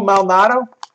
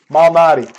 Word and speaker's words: Malnati: Lou Malnato? Yeah. How do you say it? I don't know. You know Lou's, right, Tony? Malnati, that's yeah, it. Malnati.